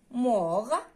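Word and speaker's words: mort: ميت مور، ميت مور كيفاش كنكتبوها؟ ام او ار تي، تي ما كتنطقش وكتكتب.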